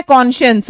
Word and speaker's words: conscience: में देखो ये साइंस आया ना, SCIENCE, प्रोनाउंसिएशन है कॉन्शियंस।